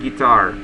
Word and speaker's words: guitar: will start and then the pronunciation of the word guitar a the action should be on the second syllable guitar okay this is